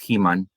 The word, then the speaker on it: He-Man: Vi a He-Man en inglés, que ahora me entero a mis 46 años que en el centro del país es He-Man, con acento en la A.